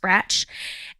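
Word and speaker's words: Brač: actually spell it is be RAC but it's pronounced branch and so we did that and that was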